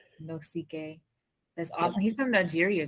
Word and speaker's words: Nosike: how do you say your last name no ck no ck that's awesome he's from nigeria guys that's amazing